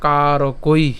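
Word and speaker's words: কারকৈঃ: এরপরে উচ্চারণ কেমন? কারকই। কেন কারকই? ঐকার আছে এবং আবার কি আছে? বিসর্গ আছে।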